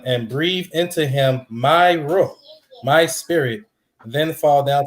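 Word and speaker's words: روح: What it said, one, the Arabic pronunciation for spirit, believe it or not, is ruh.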